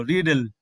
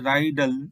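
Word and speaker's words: riddle: তৈরি হবে না এরপর দেখো রিডেল এখানে শুধুমাত্র একটি ডি থাকলে এখানে সিলেবেলের 12:00 টা বেজে যাবে এখানে দেখো সিলেবেল এমন হতে পারে রাইডাল এমন উচ্চারণ হতে পারে তো আমরা যে উচ্চারণ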